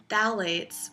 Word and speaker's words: phthalates: And one ingredient that it commonly includes is phthalates, spelled with a P, that has been linked